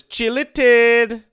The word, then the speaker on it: Chille Tid: Next episode is Chille Tid. If you don't say it like that, you're doing it wrong.